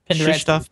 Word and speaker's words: Krzysztof: Patrick just gets all crazy with the pronouncing this name. What? Penderecki. What? Krzysztof Penderecki.